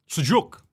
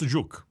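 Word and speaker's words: sucuk: With sausage suk. I believe it's pronounced sajuk or something similar to that.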